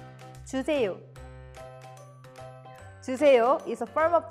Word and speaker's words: 주세요: Let's first practice the pronunciation of 주세요. 주세요. 주세요.